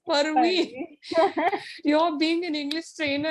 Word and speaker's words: Parveen: He reminds me saying that, hey, it is not Praveen, it is Parveen.